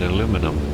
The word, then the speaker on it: aluminum: Okay, so now we know all about bauxite and aluminum. Or aluminium, whichever you prefer, however you prefer to pronounce it.